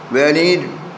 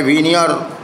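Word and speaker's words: veneer: वेनीर, correct pronunciation है वीनियर, polish, polish हर जगह उतर गया था।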